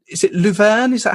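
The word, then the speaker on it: Leuven: played in in a place called is it louen is that how it's pronounced uh Lan is the French pronunciation but it's actually in Flanders and it's Len so uh Lin's about 15 kilometers from Brussels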